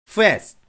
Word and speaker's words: fast: "st" 를 계속 강조 하고 있지만 , 모음 은 추가 하면 안 됩니다 . 빠른 . 세 호흡 에 걸쳐 세 음절로 발음 하지 마세요 . "st", "fast" 처럼 한 음절 을 숨 쉬듯이 끊어서 발음 해야 합니다 .